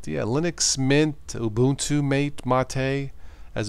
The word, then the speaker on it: MATE: But yeah, Linux Mint, Ubuntu, Mate, Mate, as it's pronounced, Zoran, Linux Light.